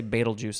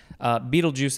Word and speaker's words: Betelgeuse: to pick batel batel beetlejuice some say betelgeuse i guess beetlejuice as the word of